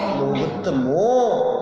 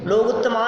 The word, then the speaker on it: लोगुत्तमो: केवली प्रणतो धम्मो लोगुत्तमो। ध्यान रखना, क्या बोलना है? लोगुत्तमा नहीं, लोगुत्तमो।